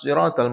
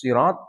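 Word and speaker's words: صراط: Ihdinas siratal mustaqim. Ada ihdinas sirat, shad. Ada ihdinas sirat, sin. Ada ihdinas zirat. Antara shad dengan zai. Lebih susah ini. Ada 3 cara baca.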